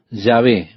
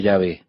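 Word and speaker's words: Yahvé: las vocales que faltan el consenso general de opiniones que el nombre sería pronunciado llave pero en algún momento la pronunciación Jehová se popularizó más que ya ve Ahora probablemente Ya ve es la pronunciación correcta pero con seguridad de eso no lo sabemos Este es el nombre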